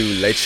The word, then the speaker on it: Lecce: Saturday morning about to head to Leche. I want to make one thing abundantly clear because I've gotten some confusion recently. Leche is Spanish for milk.